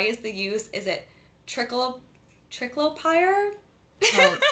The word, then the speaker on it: triclopyr: And I apologize, I don't know if I'm going to pronounce this word correctly, but why is the use? Is it triclopyr? Oh, triclopyr.